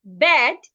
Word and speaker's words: bed: So B-I-R-D should not be pronounced bed.